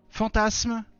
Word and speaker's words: fantasme: complotisme fantasme alors non en français un S prisonnier entre une voyelle i ou a et une consonne m se prononce ce capitalisme fantasme je sais pas moi